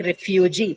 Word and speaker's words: refugee: Same goes for a word like refugee. Again, trisyllabic, although noun, it should be marked on the first syllable, but we mark it on the last one because it carries a long vowel, right?